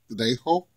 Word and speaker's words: Trejo: And you pronounce it Trejo, because the J is a H when you're Hispanic.